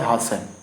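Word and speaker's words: hasten: अगला वर्ड है हासन। हासन, इसमें भी टी अपना क्या रहेगा, साइलेंट रहेगा। टी को हम भूल जाते हैं, हासन पढ़ेंगे, ठीक है ना।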